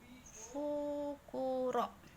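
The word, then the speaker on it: ふくろ: Dibacanya fukuro. Pakai fu, tofu ya.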